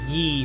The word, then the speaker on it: Ye: Sir, it's Yee for you. Don't mispronounce.